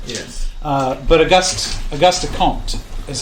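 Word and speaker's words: Comte: uh caught is yeah I thought it was compt but apparently the m is silent so it's quote as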